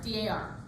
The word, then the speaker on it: D.A.R.: Something very important, always pronounce each letter of D.A.R. Don't call it D.A.R. Okay? And then it's okay if you called it D.A.R. in the past, but now you know, D.A.R. It's always D.A.R.